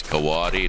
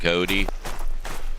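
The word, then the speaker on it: coati: And the the proper annunciation or pronunciation is Kawatti. Correct. It's Kawatti, not Cody.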